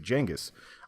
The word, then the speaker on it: Genghis: there's gonna be a there's a lot of debate on how to actually pronounce it it could be Chingiz could be Genghis it could be jenga's I always think with